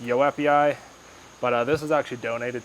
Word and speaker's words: joepii: It's the philodendron joepii, or I think it's pronounced yoepii.